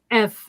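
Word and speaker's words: Œuf: And the name of this is pronounced F, and it's eggs. It means egg in French.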